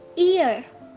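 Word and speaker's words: ear: ईयर, ईयर, इसको काफ़ी लोग गलत प्रोनाउंस करते हैं, इसको एयर पढ़ रहे होते हैं। नो, आपने इसको ईयर पढ़ना है।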